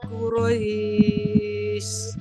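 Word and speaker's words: قريش: gitu ya Ra Ra jangan sampai ada Ra tapi ro ro ya di sini ro gitu ya liis Ulangi Pak Bu liilafi Quraisy hadaral mauti liilfi Quraisy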